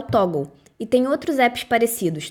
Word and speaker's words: Toggl: E Em relação a foco, eu tenho gostado de usar o Toggl. E tem outros apps parecidos. Toggl se escreve Toggle.